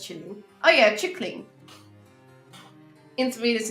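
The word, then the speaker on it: kylling: In Norwegian, chicken is killing. Pronounced chilling.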